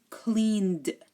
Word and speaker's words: cleaned: And clean, cleaned. It sounds like there's no E, just a D.